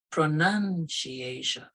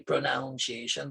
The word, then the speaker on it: pronunciation: And the last part is pronunciation. A lot of people say pronunciation, but if you read this, NUN. So it's pronunciation.